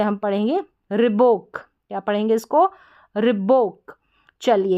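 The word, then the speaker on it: Reebok: फिर है RE और BO के बोक, रिबोक, इस तरीके से हम पढ़ेंगे, रिबोक, क्या पढ़ेंगे इसको, रिबोक।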